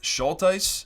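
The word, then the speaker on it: Schultheis: Now, the Coffeehouse portfolio was built by Bill, I believe his last name is pronounced Schulteis, who was a Wall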